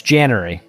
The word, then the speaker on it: Janary: I thought of like a cannery. So I was like, Janary, cannery.